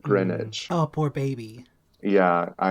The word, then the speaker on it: Greenwich: I moved to New York City saying Greenwich instead of Greenwich.